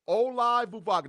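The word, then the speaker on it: Olaivavega: If I stay at 21, and I've been working on how to pronounce this dude's name right? His name is Olai Vuvagu. That is his name. Olai Vuvagu.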